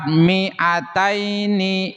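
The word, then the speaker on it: مِائَتَيْنِ: Lafaz miataini miatun. Lafad miataini. Lafad miataini miatun. Hati-hati mnya dibaca pendek.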